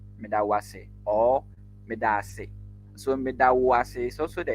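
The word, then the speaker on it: Medaase: kindly take note of how we pronounce or mention the medase. It is two letters that has been doubled. That is a vowel a, and so we say medase, and so that is thank you.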